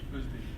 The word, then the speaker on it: Oezdemir: Comment vous prononcez votre nom? Oezdemir.